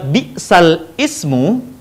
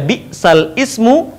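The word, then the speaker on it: بئس الاسم: Kalimat bi'sal ismu, hamzah yang berharokat kasrah menjadi hilang dan harokatnya kemudian dipindahkan ke huruf lam sebelumnya. Seharusnya dibaca bi'sal ismu, tetapi di naql dibaca menjadi bi'salismu.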